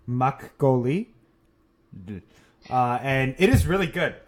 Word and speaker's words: makgeolli: So I have some Korean black bean rice wine in front of me, which I'm going to attempt to pronounce, is called makgeolli.